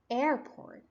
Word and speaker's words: airport: so as you see the stress is on the first syllable Airport I pronounce air more